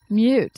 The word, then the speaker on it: mute: Mute is spelled M-U-T-E. So that U has the Y sound. Mute. Instead of moot, mute.